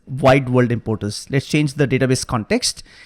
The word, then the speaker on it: Wide World Importers: wide world importers and I pronounce this right it's not worldwide importance it is wide world importers let's change the database